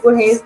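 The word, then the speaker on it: Borges: तो जॉर्ज बरहेज type का उसका वो स्पेलिंग्स है, लेकिन बरहेज उसको पढ़ते हैं और लुइस बरहेज उसका इस तरह से प्रोनाउंसिएशन है इसके वर्ड्स की।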